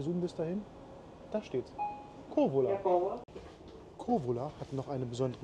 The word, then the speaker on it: Kouvola: Kouvola wird mit K-O-U geschrieben, aber das U spricht man nicht mit. Na, reicht der Zoom bis dahin? Da steht's. Kouvola.